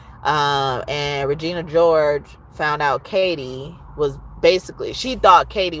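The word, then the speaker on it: Cady: But because she is who she is, Regina was, the competition was Katie or Caddy. They would accidentally pronounce her name Caddy because it was spelled like caddy, like who's my caddy, or the golf caddy, right?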